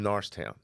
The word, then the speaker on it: Norristown: but even you know we're from Norristown right we say Norristown when I say it in Google speak to text it says n-a-r-s t-o-w-n just because I'm saying Norristown but it's spelled and it's Norris people used to make fun of me for saying Norris it's Norris right but look this is how they want you to say Norris Norris this is how like